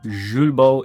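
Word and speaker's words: Julbo: Zulbo is how the French pronounce it if I'm correct.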